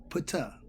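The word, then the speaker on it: Ptah: is my boy tu pata p t h p is silent so because he uttered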